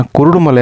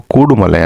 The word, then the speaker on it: ಕೂಡುಮಲೆ: ಸ್ಥಾಪನೆ ಮಾಡಿದರು ಅಂತ ಹೇಳಲಾಗುತ್ತೆ ಆಕ್ಚುಲಿ ಇದನ್ನ ಕುರುಡುಮಲೆ ಅಂತ ಕರೀತಾರೆ ಆದರೆ ಕುರುಡುಮಲೆ ಅಂತ ಇದು ಜನರು ತಪ್ಪಾಗಿ ಉಚ್ಚಾರಣೆಗೆ ಬಂದಂತ ಒಂದು ಒಂದು ಪ್ರತೀತಿ ಆಗಿಬಿಟ್ಟಿದೆ ಆಕ್ಚುಲಿ ಇದನ್ನ ನಿಜವಾದ ಹೆಸರು ಕೂಡುಮಲೆ ಅಂತ ಕೂಡು ಅಂದ್ರೆ ಒಟ್ಟಿಗೆ ಅಂತ